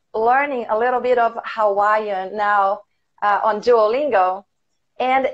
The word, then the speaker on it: Hawaii: common vacation destinations is Hawaii. As your pronunciation is good as it. There is a glottal stop there, Hawaii.